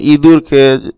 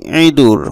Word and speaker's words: ইঁদুর: অর্থাৎ চন্দ্রবিন্দু দিলে সেটা উচ্চারণটা নাকি স্বরে করতে হয়, ঠিক আছে? যেমন ইঁদুরকে আমাদের উচ্চারণ করতে হবে ইঁদুর, অনেক নাকি স্বরে ইঁদুর, মানে নাকি উচ্চারণ হবে,